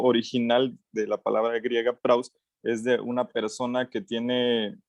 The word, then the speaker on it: praus: Es una palabra griega que es praus, se escribe P-R-A-U-S, y esta palabra, el significado es precisamente mansedumbre o gentileza, o se refiere a una persona suave, por así decirlo.